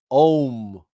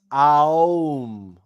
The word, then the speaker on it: Aum: Om. No, it's Aum. It's Aum.